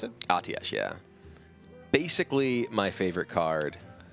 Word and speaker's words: Atiesh: Is that how you pronounce it? Atiesh, yeah.